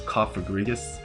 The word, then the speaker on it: Cofagrigus: pronunciation from cofagrigus is cofagrigus because it's supposed to be like coffin but I like cofagrius better it just flows